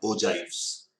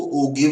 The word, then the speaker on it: ogive: Cumulative frequency curves और ओजाइव्स। कई बार इसको ओगिव भी बोल देते हैं, बट अगर आप इसकी डिक्शनरी या गूगल प्रेजेंटेशन देखेंगे, प्रोनाउंसिएशन देखेंगे तो ओजाइव ही बोलते हैं।